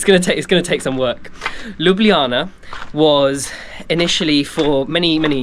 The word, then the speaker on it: Ljubljana: bit about Luana spelled Lu Luana but it's pronounced lublana it is obviously the capital of Slovenia um